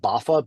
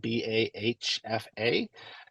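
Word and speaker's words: BAHFA: just for informational purposes it's not pronounced baffa B ahfa that could be 10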